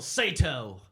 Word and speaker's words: Sato: Just so we don't sound insensitive, it is pronounced Sato.